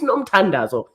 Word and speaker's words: Nomtandazo: My first name is not Noms. It's not Noms on my ID. I've never been Noms. If it was supposed to be Noms, my parents would have named me Noms. It's Nomtandazo.